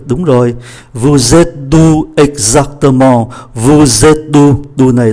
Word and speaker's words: exactement: Exactement, exactement, chúng ta phải phát âm cái chữ T một chút, không phải exactement, exactement, mà cũng không phải là exactement, nó phải có cái âm T.